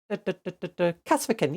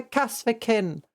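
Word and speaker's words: Kasrkin: Oh, wait, how do you pronounce them again? I always get it wrong. Kasvikin. Yay! The Kasvikin.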